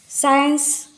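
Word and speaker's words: science: सी साइलेंट होता है साइंस एी आई सी यहां पर इसी का प्रोनंसिएशन नहीं होता है उसके बाद मसल्स हमारे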